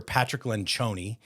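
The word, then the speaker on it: Patrick Lencioni: of one of our clients to go hear Patrick lenon uh is that how you say his name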